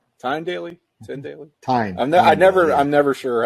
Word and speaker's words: Tyne: Oh yeah, and Tim Daly's sister in the MCU later. Tim Daly, right? Tyne Daly? Tim Daly? Tyne.